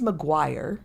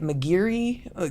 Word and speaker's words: Maguire: Um my last name is Maguire and you wouldn't think that that would be but I get Mcgiri.